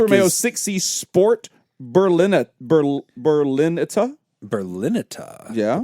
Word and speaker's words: Berlinetta: Berlinetta. Yeah. Berlinita, I believe is how Maybe. that's pronounced because it is Italian.